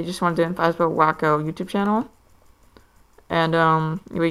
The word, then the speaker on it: Whakko: It's pronounced Wacko.